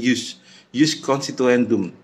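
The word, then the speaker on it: ius constituendum: Jus constitutum adalah harapan adanya aturan, jus constitutum, dan ada yang disebut dengan jus, tulisannya ius tapi bacanya jus constituendum.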